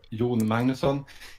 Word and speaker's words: Jon Magnusson: I'm John Magnusson, or Jon Magnusson, if anyone wants to learn the Swedish pronunciation.